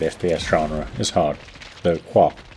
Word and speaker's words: Kvark: Standing out in the saturated, retro-inspired FPS genre is hard, though Quark, pronounced like the subatomic particle I think, has generated some traction thanks to several Half-Life comparisons.